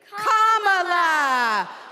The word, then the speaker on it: Kamala: do you pronounce it first you say comma like a comma in a sentence then you say la like la la la la la put it together and it's one 2 three commala all right so let's